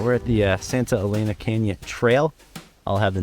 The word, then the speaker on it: Santa Elena: All right, we're at the Santa Elena Kenya Trail. I'll have the narrator interrupt me if I mispronounce that. He's close, but it's Santa Elena.